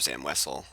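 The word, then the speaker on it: Zam Wesell: that if he wants to get rid of Zam wessell hey I said it right um he has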